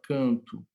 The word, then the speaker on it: canto: Quando eu falo a palavra canto, eu escrevo com O, mas eu pronuncio com U.